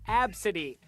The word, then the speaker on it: Abcde: the kid's name is spelled ABCDE and pronounced AB City her mom Tracy Redford